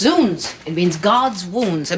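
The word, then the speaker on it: zounds: It's pronounced zuns.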